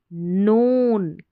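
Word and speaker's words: known: नोन, के silent है, ठीक है, नोन में के साइलेंट है।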